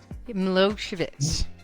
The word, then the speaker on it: Milosevic: Is that how you say it? Milosevic. Milosevic. Is that right? Yes, that's right.